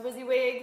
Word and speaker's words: WYSIWYG: this is what you see what you get pronounced WYSIWYG WYSIWYG Wednesday's we're going to try to bring